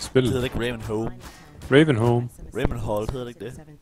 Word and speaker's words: Ravenholm: Ravenholm. Ravenholt hedder det ikke det? Jo, men det udtales home. Home? Ja.